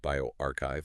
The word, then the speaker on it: bioRxiv: That's pronounced bioarchchive for those maybe unfamiliar.